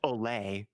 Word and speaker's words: Ole: So It's pronounced Olay.